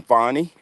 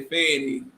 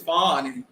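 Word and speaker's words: Fani: of the reasons why as you pronounce her name fonnie yeah that's what she say she say Fanny is not right that's she say people sexualizing her when they say Fanny she said it's fonny oh okay okay well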